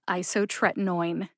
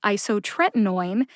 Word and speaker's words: isotretinoin: is my hope that pairing isotretinoin with phenytoin will help you feel more confident with both pronunciations because if you can say isotretinoin you can say phenytoin the written pronunciation of